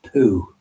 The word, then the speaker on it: Piu: a kind of a good city and it's pronounced poo sound peculiar but that's the pronunciation but it's